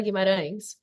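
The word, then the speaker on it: Guimarães: My name is pronounced Guimaraes, but I have Guimaraes. an American get that right, so I'm not offended at all.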